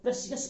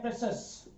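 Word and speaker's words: precious: आपको दिख रहे हैं, लेकिन इसका शुद्ध उच्चारण, प्रोनाउंसिएशन होता है प्रेशस, प्रेशस।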